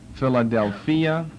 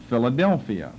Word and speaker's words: Philadelphia: down to number seven Philadelphia which we pronounce Philadelphia but Philadelphia different accent Philadelphia p-h-i-l-a -d-e-l-p-h-i-a Philadelphia